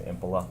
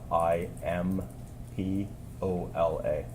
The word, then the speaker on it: Imbola: Can you please state your name and spell it for the record? Sure. My name is Imbola. Last name Imbola, Impola.